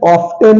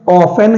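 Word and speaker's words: often: T silent है okay O एफ टीई एन ऑफ्टन नहीं है ऑफ एन है डब्लू एटी सी एच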